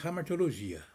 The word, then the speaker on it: hamartiologia: Primeiramente, a doutrina que estuda o pecado, ela chama-se hamartiologia. Hamartiologia. Na realidade escreve com H, hamartiologia, mas pronuncia-se hamartiologia.